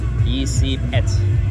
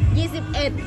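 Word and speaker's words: ยี่สิบเอ็ด: Turning 22. Yisip-et. Yisip-et. Yisip-et, guys. Yisip-et.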